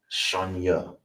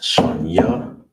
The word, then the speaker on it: Shanya: So how you would say second, it is pronounced Shanya.